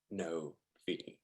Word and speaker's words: novae: That's pronounced novae 2 years ago.